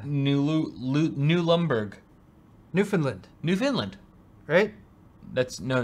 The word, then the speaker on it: Newfoundland: found it what should we call it like Newfoundland it's brilliant I always thought it was new Finland that's how it's pronounced typically Newfoundland ok this should be an